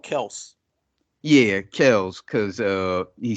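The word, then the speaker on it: Kelce: so let me introduce you to uh travis kelsey's or kells as his real is pronounced supposedly pronounced kel it's called kels yeah kells because uh he said his father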